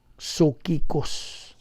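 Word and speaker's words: ψυχικός: Apan ang dili magtutuo, an unbeliever, unsa may term nila sa Griego, sokikos, mao nay Griegong pulong sa mga unbeliever. Sokikos, P-S-U-C-H-I-K-O-S, sokikos. Silent P maguna.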